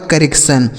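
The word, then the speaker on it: correction: की जाने वाली आवाज़] आई ओ एन का उच्चारण क्या हो गया सन यह लिखा गया आपका करेक्शन इसे क्या पढ़ेंगे करेक्शन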